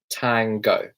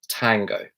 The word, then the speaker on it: tango: can the net tango tango so this has got the O sound which is very kind of unique to the British accent it's not time Gor it'll be tango tango what is your heart